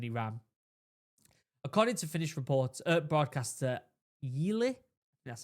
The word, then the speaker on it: Yle: According to Finnish broadcaster Yle, that's how you say it, analysts report that